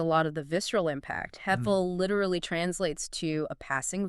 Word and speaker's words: hevel: Let's talk about that word, hevel. The pronunciation guide in our sources says it's pronounced h-e-h v-e-l.